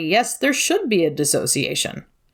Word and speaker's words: dissociation: there should be a dissociation it's sometimes commonly mispronounced disassociation which soapbox it's technically